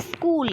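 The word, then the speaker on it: school: एम आई scheme ठीक है अब पढ़ने हो स्कूल क्या पढ़ रहे हो ठीक है लेकिन लिखने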